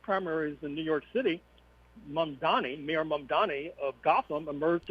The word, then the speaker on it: Mamdani: Horn, uh Kamala Harris has been talking with uh Mamdani, if I pronounce his name right. Mamdani.